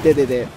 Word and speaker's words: Dedede: I have just realized that I'm using the Japanese pronunciation of DDD. In Japanese we call him Dedede.